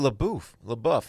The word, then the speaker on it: LaBeouf: do with the Shia Labeouf? How do you say it? Labeouf? No, you were right. It's Apparently, LaBeouf.